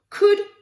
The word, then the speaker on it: could: Could, attention, ça se prononce bien comme le could français. On va pas prononcer le L ici. Could.